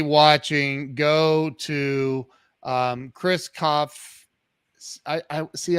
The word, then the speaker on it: Kopf: go to um Chris Koff I I see I want to say the P I know I know I'm not supposed to but I want to